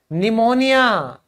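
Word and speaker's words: pneumonia: देखो निमोनिया। निमोनिया में P silent क्यों हुआ? क्योंकि उसके बाद एन आ गया।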